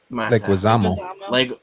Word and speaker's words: Leguizamo: Super Mario says, I forget how to pronounce it. Leguizamo.